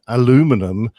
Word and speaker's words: aluminum: those so you know it falls in line aluminum that there's no there's no history to that